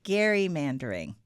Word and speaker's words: gerrymandering: I learned this weekend that it is pronounced gerrymandering and nobody really calls it like that, but it is a thing.